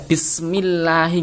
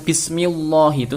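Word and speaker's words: بسم الله: lillahi gitu ya jadi seperti membaca Bismillahi nggak boleh baca bismillah itu salah harus dibaca tipis Bismillahi lafal Allah nya itu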